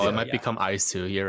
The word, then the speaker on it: iiSU: and the reason there's 2 I's is because I love the Wii, so I just wanted people to pronounce it Mhm. correctly, and it made sense.